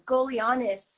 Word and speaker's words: Golianos: say it um it's it's always it's Greek it's golianos golianas okay do you